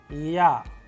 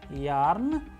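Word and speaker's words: Я: interesting letter known as Ya, a vowel. And how do we pronounce it? With the help of English approximation word as in yarn, and with the help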